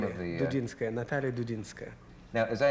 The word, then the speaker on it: Dudinskaya: Well, Dudinskaya, is that how you pronounce the name of the... Dudinskaya, Natalia Dudinskaya.